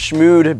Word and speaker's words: Shmoxd: It's pronounced Shmoxd because originally I was gonna spell it how I did on the intro video with the double O's.